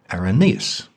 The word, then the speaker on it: Irenaeus: the second century now I've heard his name pronounced several different ways by rep devil Scholars arenais iron as if they can't agree I figure I can cut myself some slack here I'll call him irenaeus just humor me irenaeus